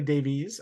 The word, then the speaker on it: Davies: for both Billy D and ramble wines Billy Davey is here with us Billy Davies I should say um the proper Welsh Welsh pronunciation I assume that's the origin of that